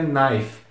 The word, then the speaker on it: knife: esse I que tá logo após o o n tem som de i então é nai e por fim tem terminação em fe com esse e sendo bem mudo então fica naife é uma pronúncia muito estranha mas tentem se acostumar com essa ideia o k é mudo Mas voltando pra regra